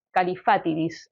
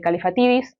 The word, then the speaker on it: Kallifatides: Y el tema es que en griego se pronuncia de una forma, en sueco se pronuncia de otra, y además se lo pronuncian de millones de maneras diferentes dependiendo de cómo les da la persona por pronunciarlo. Pero parece que en griego es Theodorus Kallifatides, y después, bueno, le han pronunciado Theodor, así que me sabrán perdonar.